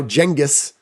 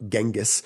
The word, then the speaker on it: Genghis: Now, Genghis, or Genghis, right? This is one of those terms when you pronounce it correctly, other people think you're dumb because they think you're pronouncing it incorrectly.